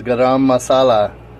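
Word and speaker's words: garam masala: mixed it up yet this is gam Masala is how I was told to pronounce it I pronounced it right unbelievably to the guy and he said that's correct so we're good now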